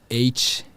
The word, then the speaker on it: Htet: Htet. The H is silent.